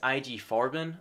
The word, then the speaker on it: IG Farben: kind of drug side of this book, is IG Farben, I believe is how it's said and pronounced.